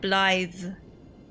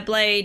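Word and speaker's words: Blaidd: Yeah, he said Blythe. It just the pronunciation looks nothing like how it's actually how it's spelled. Yeah, Blade, you're right. I thought they were saying Blade, but it's Blythe. It's weird. No, it's like Blythe. Blythe.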